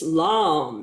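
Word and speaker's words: lame: how to pronounce that it's lamb as in plum this is a holder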